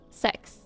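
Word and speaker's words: seks: But when you say 6 in Norwegian, it's pronounced sex.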